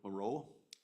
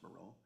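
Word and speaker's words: Marois: Those names are Robert Kevin Moreau, M-A-R-O-I-S, I believe that's how you pronounce Moreau, Cameron Clark, and Jim Schottmuller.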